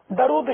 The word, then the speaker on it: درود: تو بولتے بھی نہیں، اصل لفظ تو درود ہے، لیکن عوام درود شریف بولتی ہے، تو یہ تو ہے غلط۔ صحیح تلفظ ہے درود، دال پر بھی پیش، را پر بھی پیش، درود، درود پاک، درود